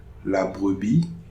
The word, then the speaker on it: brebis: Examples: La brebis aime la paille. So here the S is not pronounced, but since it's a singular noun, so I can't make any liaison with the next word.